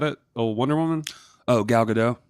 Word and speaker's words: Gal Gadot: Oh Wonder Woman Oh gal gadot oh there we go look at the T is silent I think it's one